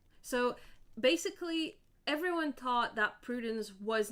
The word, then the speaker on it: Prudence: Uh but my name is actually pronounced in like French uh which is prudence